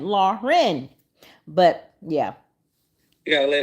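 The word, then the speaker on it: Laryn: people every time because that's not how you pronounce her name her name is Lauren okay l a r y n laen but yeah you gota let it roll off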